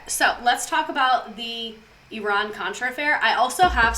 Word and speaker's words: Iran: So I just want to say I do know the correct pronunciation, Iran.